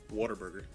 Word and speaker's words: Whataburger: people outside of Texas they pronounce it what a burger yeah just like how it's spelled Whataburger what a burger in Texas because they have that draw mmm its water burger water burger yeah like they're singing water yeah water burger now in